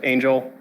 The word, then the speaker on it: Angel: Hi, so if any of you don't recognize me, actually pronounced Angel.